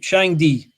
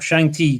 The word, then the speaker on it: Shangdi: Shangdi or Shangti, depending on how you pronounce it.